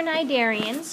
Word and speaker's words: cnidarians: The next group is your cnidarians. Your sea is silent.